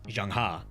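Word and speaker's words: Zheng He: us a jang the Jang was named after a famous Chinese Admiral and Explorer as a quick note Captain reer pronounces the Starship name as Jang while I pronounce the name as jangha the T sha fleet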